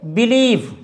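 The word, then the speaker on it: believe: अगर सी है लेकिन उसका उच्चारण स नहीं होता है तो वहाँ आई ई का प्रयोग किया जाता है। आई ई एक साथ आता है। एग्जाम्पल के लिए बिलीव, BEL।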